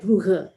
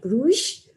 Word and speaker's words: Bruges: In English, it's Bruges, or in the local people call it Brugge. So you either say Bruges or Brugge.